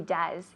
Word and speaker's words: does: Yes, he does. Con la U. Yes, he does, decimos. Yes, he does. Does? Does? No, porque es una O y E, pero se pronuncia como una U en inglés.